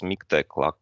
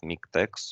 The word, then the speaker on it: MiKTeX: moving next it's miktek look on the correct pronunciation it's miktex like latex it's not miktex or latex uh it's